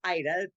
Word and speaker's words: Ida: The A is silent, so it's pronounced Ida. The A you don't, right?